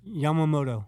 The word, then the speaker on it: Yamamoto: Yam Yamamo. How do you say it? Stewie. Yamamoto.